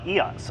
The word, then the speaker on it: Isaias: up the east coast esau eos i think that's how you pronounce it in spanish i just looked it